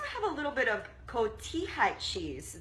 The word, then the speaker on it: cotija: And then we also have a little bit of cotija cheese. The J is silent. Cotija cheese.